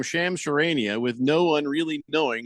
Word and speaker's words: Shams Charania: Roboto says the real reason for any sports news is to broadcast the name Shams Charania with no one really knowing how to say his name.